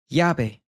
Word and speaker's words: llave: If it's only a two-syllable word, then that means the stress will come up front. Llave.